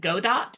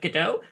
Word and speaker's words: Godot: I know that uh some people pronounce it God dot instead of gdo however I choose to say gdo because that lets me make more puns so uh anyway let's